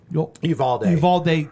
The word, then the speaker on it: Uvalde: Uvalde, Texas.